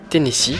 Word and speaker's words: Tennessee: Donc je suis accompagné d'un Ekaflip, donc Tennessee, voilà, ça se prononce comme ça.